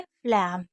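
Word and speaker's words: phlegm: फ्लैम, क्योंकि जी silent है।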